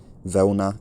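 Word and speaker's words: wełna: Velna is the standard Polish pronunciation of the word.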